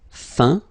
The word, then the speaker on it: feint: Feindre, feint. peindre, peint, teindre, teint. Okay, as usual, final T not pronounced. Atteint, éteint, fin, peint, teint.